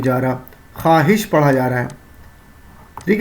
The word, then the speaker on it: خواہش: وہ واو جو لکھا تو جائے لیکن پڑھا نہ جائے، جیسے خواہش، تنخواہ. لکھا تو جا رہا ہے خواہش لیکن پڑھا نہیں جا رہا، خواہش پڑھا جا رہا ہے.